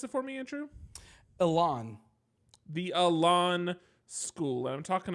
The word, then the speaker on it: Elan: I'm talking about, go ahead and pronounce it for me, Andrew. Elan.